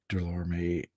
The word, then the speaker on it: Delorme: Um By the way, Delorme, the last E is silent.